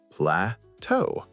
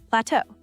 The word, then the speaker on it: plateau: Plateau. The te e au at the end is silent. Plateau. It comes from French, which is why it looks different from how it sounds.